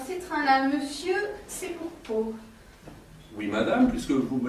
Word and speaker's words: Pau: Oui, Pau avec un P. Alors, Pau. Comme ça s'écrit, pareil.